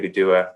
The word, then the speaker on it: Anigiduwah: Cherokee speakers sometimes, and it's pronounced more like a G by Eastern Band speakers here. So you can know that, and you can sound like you're in with the in crowd when you go to Anigiduwah and pronounce it like with a G instead of a K.